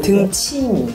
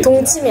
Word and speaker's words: 등침: 네, 등침이. 네, 등침. 다르게 동침이 아니고 등침. 등침이.